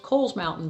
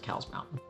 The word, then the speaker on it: Cowles Mountain: And of course, one of the most popular is Cowles Mountain, which is actually pronounced Coles Mountain, but everybody calls it Cowles Mountain.